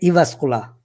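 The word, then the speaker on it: Jyväskylä: j is pronounced like e uh this is pronounced like i i like e in finland so uh we said evascula okay so evascular university of applied science in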